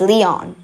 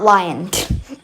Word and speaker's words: Leon: so I need Leon it's pronounced as Leon not lion so and that's a